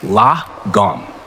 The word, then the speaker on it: lagom: looking at the world the word is lagom pronounced lagom to understand it we must go back in